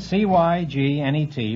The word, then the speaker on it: cygnet: It's spelled C-Y-G-N-E-T, but it's pronounced cygnet.